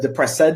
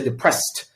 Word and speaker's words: depressed: You said depressed, which is incorrect. You need to say depressed. Between S and D, there's no E. The E is just there grammatically, but there's no E in the pronunciation.